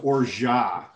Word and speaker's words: orgeat: So one of the ingredients Adina will talk about is she made it's pronounced orgeat. And hers is an almond orgeat.